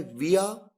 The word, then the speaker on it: via: VIA जिसे दो तरीके से प्रोनाउंस किया जाता है, विया या वाया।